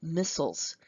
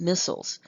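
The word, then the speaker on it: micelles: these small globules are going to be called missiles missiles I know it doesn't look like that but that's the way it's pronounced missiles so once these missiles are available then the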